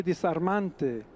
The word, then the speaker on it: disarmante: So he definitely pronounces the S in intervocalic position. So when the S is in between two vowels, he's pronouncing it as it's a fricative still, but it's the S variety, rather than the Z variety.